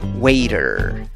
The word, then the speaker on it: waiter: Y pronuncias la palabra diciendo waiter, waiter, waiter. Muchas veces la T en el inglés suena como una R, especialmente si está precedida por una vocal, aunque no es en todos los casos.